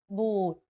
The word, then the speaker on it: บูด: A word can have different meanings depending on if the vowel sound is pronounced long or short. For example, ติ and ตี The first word ติ with the shorter sound means to criticize. If you say it a bit longer, ตี it means to hit. Another example is บุตร or offsprings, and บูด or to be rotten.